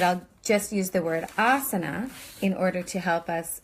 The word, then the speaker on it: asana: you can learn it asana so that first ah sound the a with the line above it is ah a long like father and the